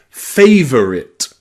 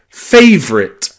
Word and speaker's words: favorite: We don't say favorit. We say fit, favorite, favorite.